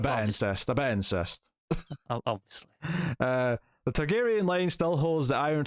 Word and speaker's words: Targaryen: Targaryen, there you go.